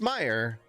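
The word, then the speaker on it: Mayer: but it's the mosque or mayor but it's pronounced meyer but it's m-a-y-e-r it's french how does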